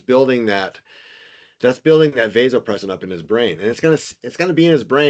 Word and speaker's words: vasopressin: Some people pronounce it vasopressin, but vasopressin is the correct pronun- pronunciation.